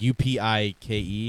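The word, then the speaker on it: UPike: it's a copy so you say it like u-p-i-k-e oh okay league of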